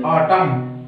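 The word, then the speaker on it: autumn: Next देखिए, आउटमन, नॉट ऑफ आउटमन, only ऑटम, last में एन है, उससे पहले एम है, तो एन हमारा मूक साइलेंट हो गया, तो प्रोनंसिएशन उच्चरित क्या हो गया मेरी, ऑटम, ऑटम, ठीक है।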